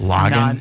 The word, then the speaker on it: Lagan: and into the river lagan is that how I pronounce it in Belfast you're Irish Belfast is log on in Ireland Oh its